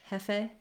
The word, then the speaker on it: jefe: When you're saying it in Spanish, jefe, you want to make sure that you don't have a diphthong there if you're trying to get the correct Spanish pronunciation.